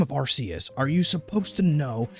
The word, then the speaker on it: Arceus: up with pokemon how in the name of arceus are you supposed to know how to pronounce freaking pokemon names it's arceus see what i mean some are punts which